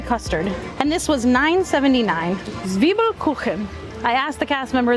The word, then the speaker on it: Zwiebelkuchen: Zwiebelkuchen. I asked the cast member there how to pronounce it because I really didn't want to be wrong. I think I said Kuchen before and it's Kuchen.